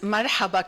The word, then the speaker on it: marhaba: I think all of us could speak to I was going to say mhaba in Lebanese as well. Mhaba. Mahaba. Good. That's pronounces marhaba correctly.